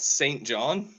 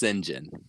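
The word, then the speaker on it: St John: __ ] it's pronounced Sinjin that's how that's how it's pronounced in the UK and Australia both of which is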